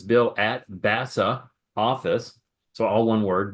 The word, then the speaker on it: BAS2A: And I pronounce it like BASA because it sounds like NASA.